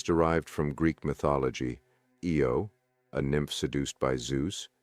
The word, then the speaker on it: Io: Io, pronounced I-O, is the nearest of Jupiter's 4 major moons, with an orbital period of approximately 42 hours.